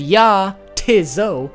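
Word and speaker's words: Jatizso: See, if you say it like nay t not and yah tiso, it's supposed to sound like no it is not and yeah, it is so.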